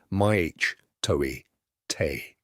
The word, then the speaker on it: mitote: Your whole mind is a fog which the Toltecs called a mitote, pronounced maich toi te.